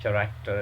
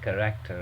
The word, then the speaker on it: character: All right, and then if you talk about character, so it's not character, it's character, right?